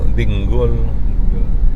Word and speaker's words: Dingle: Pero ang pang-pronounce nila dinggol.